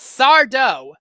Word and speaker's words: Sardo: Afraid of the Dark that's sardo no Mister Accent on the de now he is also